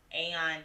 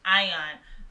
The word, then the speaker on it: AIN: We do have a place, Aeon Dallas. If I'm pronouncing that right. Ion.